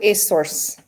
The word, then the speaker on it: Azores: ago yeah that's terrible and they pronounce it a source are you serious yeah